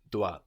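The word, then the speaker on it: dois: comes from da and this is spelled D o i s da so we end in an S but we don't hear it the word for thing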